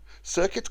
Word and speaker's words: circuit: Circuit, conduit rhyme with shirk it and beyond it.